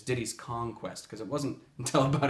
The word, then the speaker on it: Diddy's Kong Quest: for you guys who grew up saying Diddy's Diddy Kong's Quest versus the correct way which is Diddy's Kong Quest because it wasn't until